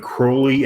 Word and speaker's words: Crowley: look it up and Crowley actually is the correct pronunciation of the name okay crow yeah even